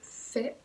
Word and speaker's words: fais: Entonces es je fais, tu fais, il fait, nous faisons. Entonces ahí se escribe A-I, pero lo pronunciamos más como si fuera una E. Faisons.